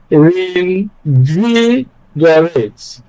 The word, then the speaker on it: reinvigorate: In the word reinvigorate, we have 5 syllables. The last syllable, we count it as 1, is rate, R-A-T-E. Then the second one is G-O. So invigorate. Okay? And then, of course, the 3rd syllable is VI or V, where we place the stress.